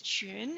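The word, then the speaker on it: 裙: to add another character skirt is june and it rhymes with june monarch the word monarch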